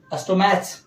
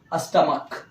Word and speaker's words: stomach: जैसे एग्जांपल में समझ लें, STOMACH, क्या पढ़ेंगे इसे? अस्टोमैच नहीं, अस्टमक।